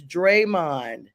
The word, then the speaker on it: Draymond: It's Draymond, but Richard is helping you out.